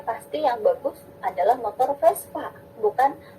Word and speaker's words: Vespa: Bunyi bah itu dibacanya F. Makanya teman-teman kalau mau beli motornya pasti yang bagus adalah motor Vespa, bukan Vespa.